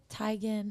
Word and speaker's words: Teigen: like that chrissy teigen is like it's really tigen actually and ariana grande grande is definitely correct but she pronounces it grandy and people always say register